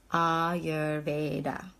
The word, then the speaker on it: Ayurveda: did asana asana and now all your Veda ah your Veda and then Vata so it's a long Vata